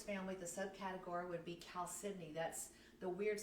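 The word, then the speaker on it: chalcedony: the subcategory would be Cal Sydney that's the weird spelling that starts out with the CH but we pronounce it like a k so another piece that's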